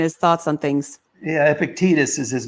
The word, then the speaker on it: Epictetus: p i c t a t u s pronounced epictetus i understand um you might want to check